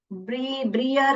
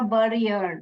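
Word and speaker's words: Brière: ई आर अर य ब्रियर नहीं पढ़ने का बियर पढ़ने का सजन बियर वास अ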